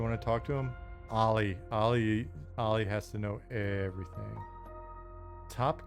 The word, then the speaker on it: Ali: Ali as in skateboarding, it's spelled A-L-I like Muhammad Ali. But I say Ali like skateboarding.